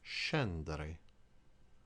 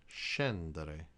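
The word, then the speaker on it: scendere: or ship for instance the word SC e and d e r e is Shen that I Shen that I and just like with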